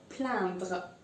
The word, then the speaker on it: plaindre: Now you see it's A-I-N. But since it's I-N, I'm still going to pronounce it as un. So it's plaindre.